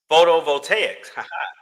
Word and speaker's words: photovoltaics: Where's the pronunciation? Ah, there we go. Photovoltaics.